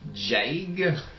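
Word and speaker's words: Daig: It's spelled D-A-I-G, but apparently Irish, they pronounce D's as J's, like soft J's as in Okay. joy. And then I's are pronounced as like E-E's. So it's really Jag.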